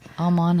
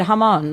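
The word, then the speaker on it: jamón: Amon, I didn't even say that right. No, you did. Hamon, like Hamon.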